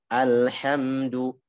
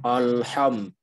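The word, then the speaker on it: الحمد لله: mengarah kepada bunyinya misalnya kita mengucapkan Alhamdulillah Alhamdulillah kadang-kadang kadang kadang atau bahkan sering haknya itu ikut tebal jadi bacanya allham Al Ham alhamdulillahirobbilalamin tapi dia bacanya nanti alhamdulillah alhamdulillah ini harus dihindari Ya bagi seorang qori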